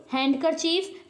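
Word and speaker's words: handkerchief: silent letter कहते हैं जैसे डी किसमें है हैंड कच हैंड अ हैंड करर चीफ जैसे यहां पे लिखा है हैंड करर तो डी इसमें साइलेंट होता है क्या पढ़ते हैं हम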